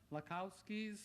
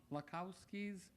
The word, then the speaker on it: Lakowski: As evidence, I give you Dina Lakowski's, and I pronounced her name wrong, Lakowski's, and her poem, Advice.